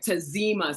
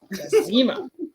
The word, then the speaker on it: Tazima: Because Tazima. I want people to get my name right. Tazima. So sass on the Z. That's how to remember it. Sass on the Z. Tazima.